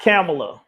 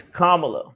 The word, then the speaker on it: Kamala: mamaa people like malamala it's not camela it's Kamala Kama comma La there you go all right ladies and